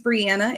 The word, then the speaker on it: Brianna: So, my name's Brianna. It rhymes with Indiana.